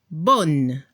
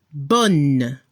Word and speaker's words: bonne: Al masculino, el sonido ON se pronuncia como si tenía la nariz tapada. Bon. Y el femenino lo pronuncia como en español. On, bonne.